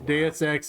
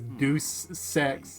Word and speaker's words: Deus Ex: Did I mention how a friend of mine used to pronounce Deus Ex as Deuce Sex?